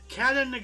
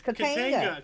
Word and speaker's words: Katanga: also have 1962, how the hell do you pronounce that? Get it? Katanaga? Katanaga. Katanaga. There's no A after the A. Katinga. Kantiga. Katanga Became part of the Katanga. Democratic Republic of Congo. Okay. Katanga. It's Katanga.